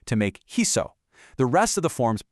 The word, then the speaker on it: hizo: But, the root needs a soft s sound. So, Spanish brilliantly swaps the c for a z to make hizo.